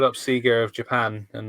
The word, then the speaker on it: Sega: We called up Sega of Japan, and they confirmed it's pronounced Sega, and everyone else is wrong, and Sean's right.